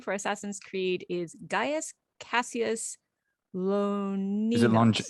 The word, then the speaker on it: Gaius: Gaius is actually 3 syllables. We say Gaius, of course, in English, 2 syllables, bum bum, Gaius. But in Latin, it's Gaius, bum bum bum, Gaius.